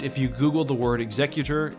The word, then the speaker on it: Executor: the Super Star Destroyer Executor as opposed to Executor, as in a guy who chops off heads for a living, which seems more fitting.